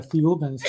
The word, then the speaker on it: Thiaouba: So what Michel was told that this group of ETs, the Thiaoubans, remember Thiaouba is pronounced very similar to Jehovah.